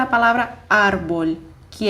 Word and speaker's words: árbol: Bom, árbol termina em L, em consoante, então eu deveria dizer árbol, mas eu não digo árbol, eu digo árbol. Então, eu preciso acentuar o A para indicar que ali é a minha sílaba tônica.